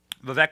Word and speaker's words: Vivek: say his name correctly it is Vivek like cake everyone said it wrong